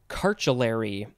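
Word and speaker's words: chartulary: our next word is cartillary uh but it's you know it's pronounced car but there's a ch at the beginning this is a noun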